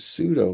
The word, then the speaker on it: pseudo: We do see pseudo uh again the P is silent. Pseudo means kind of like fake uh or appears to be but isn't.